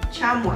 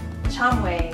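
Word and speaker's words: 참외: It's also called the Korean melon, and that's pronounced Chamoe? Chamoe. Chamoe. Chamoe in Korean.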